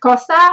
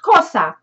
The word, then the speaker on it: Xhosa: And whilst I was in South Africa, I also discovered a brand new language called the Xhosa, or however you pronounce it. I know it's a clicking sound, Xhosa.